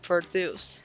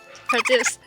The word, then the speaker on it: produce: same way but because we change the emphasis of parts of the words it changes the meaning so for today we